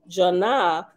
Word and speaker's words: Janah: By spelling and pronouncing the Hebrew word Jonah as Janah, which is according...